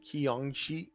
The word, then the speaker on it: Qiangxi: Pronounce. Please. Please tell me. Kayanki. Kayanki. That's it.